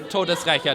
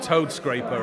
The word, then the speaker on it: Todesrächer: Todesrächer, der Todesrächer von Soho, yeah. That's literally means like the death avenger of Soho. Okay, not toad scraper or something like that.